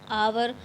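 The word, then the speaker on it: hour: करेंगे इसके बाद देखिए the word आवर has spelling beginning with ह consonant but is spoken with the अ वोव sound आवर तो while स्पोकिंग white speaking H become silent and there for article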